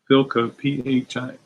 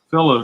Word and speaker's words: Philo: Some Philco, Philo. Philo, not, there's no C. Philo.